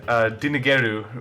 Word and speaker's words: Dingle: Like Dingle, because Dingle is pronounced like Dinigeru, which means I'm escaping from the police.